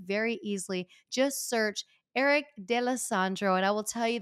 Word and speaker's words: D'Alessandro: And I'm going to say his name the way he says it in a Staten Island way, which is Eric D'Alessandro. I would have said D'Alessandro. Yeah, that roll no, the tongue.